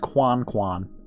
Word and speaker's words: Coin Coin: It's spelled coin coin, but pronounced Quan Quan.